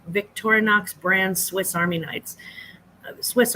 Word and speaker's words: Victorinox: often goes overlooked um also he said the Victorinox V Victorinox Brands Swiss Army Knights Swiss Army knives so